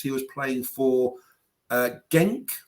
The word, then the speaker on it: Genk: was playing for uh genk I think it's called pronounce gank b-e-n-k now gameplay they